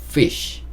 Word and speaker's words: fish: 옆에 보면 물고기 물고기도 pc가 아니고 fish fish 이렇게 소리가 이런 소리가 나야 돼요 그래서 빨리 하면 fish